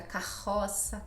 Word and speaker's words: carro: Então, rua, rio, e duplo no meio da palavra fica carroça, carro. Ou seja, é mais suave. É quase o H em inglês.